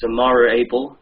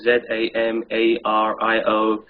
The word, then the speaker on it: Zamario Able: Oh, it's Zamario Able. I've written it down. It's spelled Z-A-M-A-R-I-O-A-B-L-E.